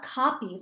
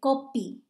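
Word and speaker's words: कॉपी: a notebook in hindi so it's not copy like how we say can you make a copy of this paper or make a copy they say kopi kopi kitab kitab is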